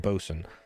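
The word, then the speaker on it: bosun: Mariner, boat, and or bosen, and shipmaster. If you ever wonder how that words the word spelled boatain, it's spel. It's pronounced bosen.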